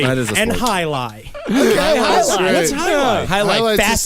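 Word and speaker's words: jai alai: There was a Well, and it's pronounced highlight, but it's spelled Jaialai.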